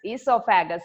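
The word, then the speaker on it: oesophagus: Esophagus is also known as the food pipe. You can see a O in front of that spelling, but O is silent. You should pronounce it as esophagus.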